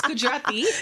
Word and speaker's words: Gujarati: It's Gujarati.